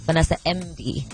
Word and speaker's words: Vanessa Mdee: I come here here in Lagos I am Vanessa MV okay it's like French without song I'm not